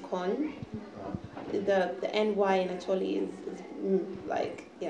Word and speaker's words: Kony: I think they're interested to hear my point because his name is actually pronounced Kon.